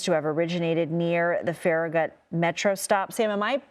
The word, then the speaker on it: Farragut: Uh, per federal law enforcement officials, the shooting appears to have originated near the Farragut Metro Stop. Sam, am I pronouncing Farragut correctly?